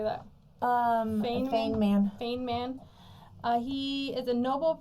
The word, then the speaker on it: Feynman: Feynman.